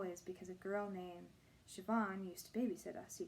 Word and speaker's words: Siobhan: her pronunciation CEO bond can you spell that she looked down at the letter S io b h a and O he said after a second I think it's pronounced Siobhan Candace scowled at herself Brandon